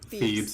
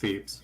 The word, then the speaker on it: Thebes: How's it pronounced? Thebes, it's just Thebes.